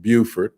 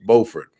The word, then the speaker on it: Beaufort: carolina friends would want to call that word beaufort but in north carolina it's pronounced beaufort so anyway mr cheeseman is also currently the